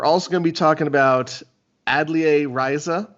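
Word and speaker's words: Atelier Ryza: gonna be talking about adlia riza which is a game i stupidly called atlear raiza for many many months until google taught me how to pronounce that word oh cj you idiot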